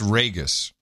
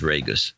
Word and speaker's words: Reyes: of the Crowley's Ridge Reyes it's Reyes Vegas Vegas hi there it is Reyes it's pronounced like Vegas Vegas Sir Terry night